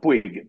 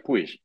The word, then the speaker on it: Puig: Eh, nosotros acá decimos pig, pero allá se pronuncia push en España. Aquí se pronuncia, aquí se pronuncia push porque es de origen catalán, pero estoy tan estoy